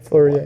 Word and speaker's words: Fleurier: Dial maker, quadrants, and habillage, I believe you pronounce it correctly, right? And they also have a movement maker, Vasseur manufacturer, Fleurier? Yeah, Fleurier.